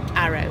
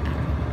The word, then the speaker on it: Haro: It is, which is probably pronounced arrow, because they don't pronounce the H's in Spanish, do they? It's probably arrow.